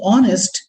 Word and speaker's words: honest: rupee note a u but in case of honest even though there is h in the word it is it remains silent so we say honest so we say an